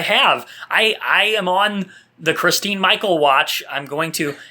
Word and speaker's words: Christine: I am on the Christine Michael watch. I'm going to, and actually, I think it's Kristen. You know, it's spelled Christine.